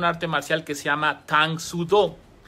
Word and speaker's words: Tang Soo: Solamente que al pronunciarlo ahora en coreano, ya no lo voy a pronunciar en japonés karate, lo voy a pronunciar como Tang Soo, la mano de China.